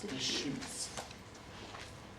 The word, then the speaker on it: Deschutes: It's Deschutes.